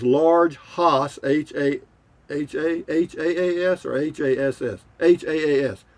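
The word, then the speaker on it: Hass: haas h-a-h-a-h-a-a-s or h-a-s-s h-a-a-s it's pronounced haas avocados i mean they're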